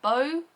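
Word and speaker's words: Beau: a u is that bow do you pronounce that bow or do you pronounce that B I'm pron in it bow in my head but that could be wrong and he's kind of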